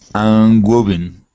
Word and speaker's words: woven: That's a good word for you to practice because it's got your W and your V.